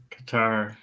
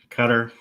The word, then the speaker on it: Qatar: Well, I think it's I think the the the correct pronunciation is cutter, but Qatar is widely known as what the West calls it.